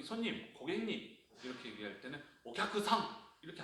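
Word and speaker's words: お客さん: 쿠 다음에 사시세도 사행이 오면은 앞서서의 쿠는 묵음처럼 들릴 듯 말 듯. 박자는 가져가되 발음하는 거예요. 그러니까 우리가 일본에서 저기 손님, 고객님 이렇게 얘기할 때는 오캬크상 이렇게 안 들어요.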